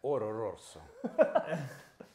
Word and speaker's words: Oro Rosso: You gotta say it like that, Oro Rosso.